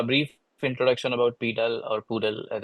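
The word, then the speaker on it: PDAL: this but a brief introduction about pal or poodle as it's pronounced as I said earlier it's a library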